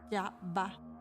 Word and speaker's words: Yahvah: Yod-He-Bod-He es el término del Antiguo Testamento y se pronunciaba Yahvah.